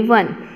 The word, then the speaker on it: one: बन, BUN बन, SUN सन, FUN फन, GUN गन, ONE वन। वैसे तो ये सब में UN आया है, लेकिन देखो वैसे तो सब कुछ बोलने के लिए तो सेम है, बन, सन, फन, गन, लेकिन स्पेलिंग किसकी अलग है, वन की।